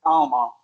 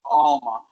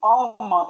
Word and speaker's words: Alma: so it's funny because we in English we get I remember as kids it was Alma, but it's pronounced Alma. In Spanish, the name Alma is Alma.